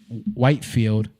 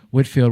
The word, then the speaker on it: Whitefield: what's his name george whitefield or whitfield whatever you want to say his name whitfield whitefield who this guy george whitfield